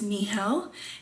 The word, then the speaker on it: Nihal: basics my name is nihal it's pronounced like a knee and like hell it is arabian my